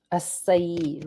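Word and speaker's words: açaí: sound it's open I'll take half an ounce aai right aai mhm I learned that I had been pronouncing it wrong when I was talking to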